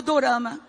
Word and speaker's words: dorama: Então, toda a novela, eles colocam a pronúncia coreana do drama em inglês assim, drama. E depois coloca o nome do drama embaixo. Então, quem traduziu aqui o drama, colocou o O no meio, ficou dorama.